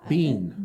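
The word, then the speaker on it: Biehn: michael is it bien bean michael bean like like a jumping bean okay yeah i saw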